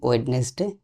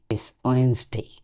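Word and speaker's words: Wednesday: আরেকটি ধরা যায় ওয়েডনেসডে। আমরা যেটা বলি ওয়েডনেসডে। এর বানানের সাথে উচ্চারণের তেমন মিল নাই। ওয়েসডে।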